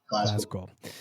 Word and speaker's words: Glasgow: Imagine there's like a Z in it. Glasgow.